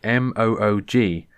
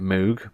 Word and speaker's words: Moog: said the word moog m-o-o-g now i've always pronounced it moog because it's got two o's a g so you get oog and then you've got the m at the beginning you've got moog you